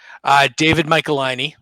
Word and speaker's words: David Michelinie: David Michelinie.